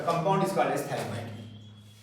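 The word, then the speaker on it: phthalimide: पीएच बेटा silent है, ठीक है। Gabriel थैलिमाइड synthesis.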